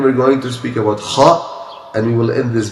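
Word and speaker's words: خاء: The closest place from the throat to the tongue is this place. Kha place. Okay, so kha, also air, it comes out when you pronounce it. The thing is that we need to make our best of efforts to centralize the voice to come from this place. Like someone is snoring.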